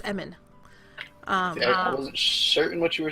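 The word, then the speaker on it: Emmin: somebody named Emmons and I keep wanting to say Emmons but it's Eman certain what you were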